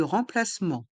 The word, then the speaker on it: remplacement: un bus de rempacement on entend deux fois le même son dans le mot placement les lettres e et m et les lettres e et n se prononcent en r M et le T est mué r plement un bus